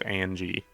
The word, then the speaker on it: Angie: it so fascinating that Angus is referred to as Angie it's just it's a strange nickname like to change the the hard G to a soft G it's also the same number of syllables Angus Angie I don't